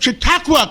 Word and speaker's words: Chautauqua: With us today is Senator George Borrello from the great county of Chautauqua County.